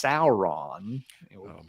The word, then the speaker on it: Sauron: It's Sauron. What almost rhymes with cow.